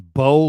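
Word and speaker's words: Baux: His name's Bo Limmer. Mm-hmm. Bo is spelled B-A-U-X, Limmer.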